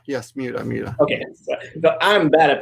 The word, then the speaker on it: Miura: Miura. Yes, Miura. Okay, so I'm bad at pronouncing that one.